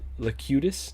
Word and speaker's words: Locutus: That Locutus, that's how you say it, yeah, the board.